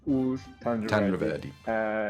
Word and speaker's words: Ugur Tanriverdi: Why don't you correct my really poor pronunciation on your surname, sir? It's Ugur Tanriverdi.